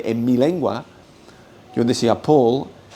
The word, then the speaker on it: Paul: Es una es un aspecto fino de la pronunciación del inglés que en ciertas posiciones, en principio de palabra palabra acentuada se pronuncia aspirado, que el el castellano nunca hace.